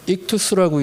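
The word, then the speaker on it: ἰχθύς: 그러면서 잠깐 요걸 살펴보면 이거 우리가 많이 봤던 물고기 모양 익투스라고 이제 발음하는 그 모습이죠.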